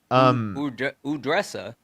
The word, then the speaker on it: Udressa: W's in the chat for Udressa is how you pronounce the name.